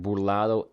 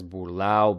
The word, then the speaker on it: burlao: So because of that, they're never really going to pronounce it like burlado anyway. So we can kind of just keep it as burlao because to even write it as burlado just looks weird.